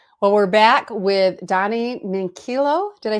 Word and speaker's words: Minchillo: Well, we're back with Donny Minchillo.